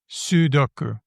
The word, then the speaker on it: sudoku: I guess sudoku. And it's got an ooh at the beginning.